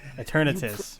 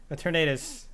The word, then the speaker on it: Eternatus: Okay, Eternatus, right?